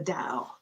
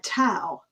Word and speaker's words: Tao: say in america uh tau which it can be pronounced that way but it's really pronounced dao like the dow jones d-o-w but it's spelled t-a-o i know it's just